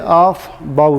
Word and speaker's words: Aufbau: इसका पहला रूल है, इसे हम प्रोनाउंस करते हैं ऑफ बाउ रूल।